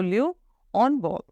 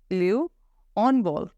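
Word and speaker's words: handball: will be solid तो लू ऑन बॉल लू ऑन बॉल हैंड बॉल को हम फ्रेंच में बोलेंगे लू ऑन बॉल where H will be slate प्रेमी है कते मुआ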